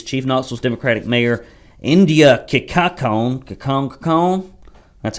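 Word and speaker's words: Kincannon: With paying an outside firm to locate and hire the city's next police chief, Knoxville's Democratic Mayor India Kikakon, that's how you pronounce it, that's the English translation, and her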